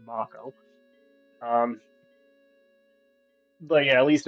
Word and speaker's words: Mako: In this game, I always think Mako, even though it's probably supposed to be pronounced Mako.